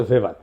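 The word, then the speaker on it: Weber: না আরেকজন দার্শনিক আছে ম্যাক্স ভেভার এটা ওয়েভার বলে অনেকে এটা উচ্চারণ আসলে ভেভার তার একটা লেজিটিমেসি এবং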